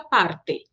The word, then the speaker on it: parte: Em espanhol, não. O som do T, ele se mantém. Parte.